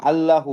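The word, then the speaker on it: الله: আল হা পেশ হু আল্লাহু এইটা এটার উচ্চারণ লামের মধ্যে তাজদি আছে আলিফ লাম জবর আল লাম জবর লা আল্লাহ আল্লাহ আল্লাহ আল্লাহ আল্লাহু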